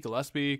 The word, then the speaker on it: Gillespie: GSP, Gillespie. Gillespie is how it's pronounced in the game.